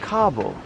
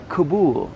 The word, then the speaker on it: Kabul: So first note to my fellow Americans, we have been getting the pronunciation wrong because of our American media. It's not Kabul, it's Kabul.